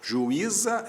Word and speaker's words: juíza: juiz não recebe acento juíza é outra história Ju I za o u para um lado o i pro outro isso é iato o z foi parar na outra sílaba então Então esse I